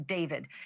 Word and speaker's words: D4VD: Literally, for the singer known professionally as David, spelled D4 VD. I know it's strange, but it's pronounced date.